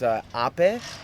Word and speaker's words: Ape: and the name is the model is Ape, which you spell it APE, Okay.